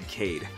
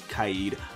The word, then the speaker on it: Kaid: Further down, we have Kaid, which I was pronouncing wrong the whole entire time. I was calling the guy Cade. My bad, Kaid.